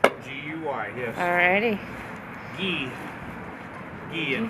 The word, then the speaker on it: Guy: G-U-Y, yes. Alrighty. Guy. Guy in French. Guy. Guy. So you're doing this out of love English for you. pronunciation is Guy, the same word as Guy in French.